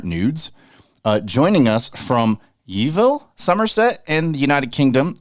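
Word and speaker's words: Yeovil: doing I'm good Che and how do you pronounce the name of your town did I say it right um it's YoVille YoVille I have to ask because you know I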